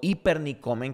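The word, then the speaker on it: ὑπερνικῶμεν: Pero la palabra hipernike o hipernicomen, que es como se pronuncia en griego, significa más allá que una victoria.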